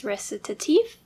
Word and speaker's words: Recitatif: [plays pronunciation guide saying: “recit-ay-tive”] I don't think that's right . Okay I just started to look up how to say this and I guess it's “Recitatif.”